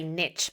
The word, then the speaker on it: niche: On the topic of pronunciation, it's so interesting Americans say niche because I would say niche.